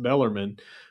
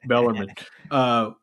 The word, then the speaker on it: Bellarmine: at 4 p.m., they will be going against Bellarmine. Again, Kyle Walker, I said it right, Bellarmine. Bellarmine, 4 p.m.